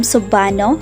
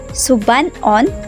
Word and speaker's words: Subanen: In publications, they are called Subanon, Subanun, or Subanen. Linguists use the spelling Subanen because it is phonetically close to the way the native speakers pronounce their ethnic name.